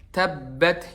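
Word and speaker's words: تَبَّ: Jadi bukan tabbat yada tabba masuk ke hidung dikit. Tabba.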